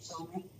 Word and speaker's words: Chalamet: Did I pronounce Chalamet?